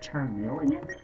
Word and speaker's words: Charmeleon: Is it Charmeleon? Yes, it's pronounced Charmeleon.